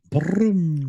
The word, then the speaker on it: Brum: Say brum. Kev? Brum. No, you have to roll your R's like I did. No. Can you no, not? I don't. You can't roll your R's. Brum.